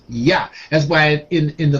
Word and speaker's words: YHWH: understand what I'm saying we've been trained to pronounce it with the w w sound but it's silent and we hear in